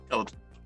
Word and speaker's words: Kaladin: Yes, like Paladin, but with a K. Oh, cool. Kaladin.